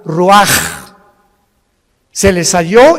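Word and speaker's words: רוח: Y exhaló Isaac el Roach. Así como suena, se pronuncia la CH en hebreo como J, Roach.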